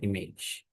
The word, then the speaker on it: img: So when you call, when you're pronouncing, you can pronounce like image, but the tag is what img.